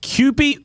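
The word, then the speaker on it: Kewpie: it's called it's they call it Cy mayonnaise Cy hold on one second spell it k e w p i e Mayo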